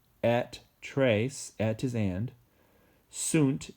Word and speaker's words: sunt: trace at twos and sunt is they are like son s o n in Spanish queen way so if